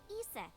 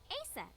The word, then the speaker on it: Isis: horace's mom is named isis but in ancient egyptian it's pronounced closer to isa or asa oh huh well that's